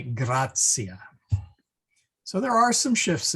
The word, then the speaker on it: gratia: And then the TI, when followed by a third vowel, becomes like a C sound, or tsitsi fly, like tsitsi fly, really. So we don't say gratia, we say grazia.